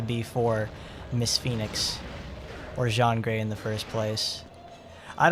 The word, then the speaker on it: Jean Grey: she's from america okay she's pronounced like the clothing because she's from america so she's just jean so she's jean grey but in the dark